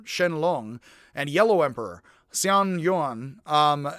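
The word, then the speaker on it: Xuanyuan: long and yellow emperor xian yuan um the x is pronounced hs a little bit were said to have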